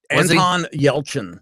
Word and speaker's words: Anton Yelchin: Anton Yelchin.